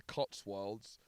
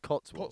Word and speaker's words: Cotswold: Can we did an attempt at opening this, and can you say the word Cotswold? Cotswold. Just try say it in a sentence. It's like Cotswold, but it's a wold.